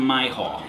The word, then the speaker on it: Myhall: We've got Martin Myhall. It's not your hall, it's my hall.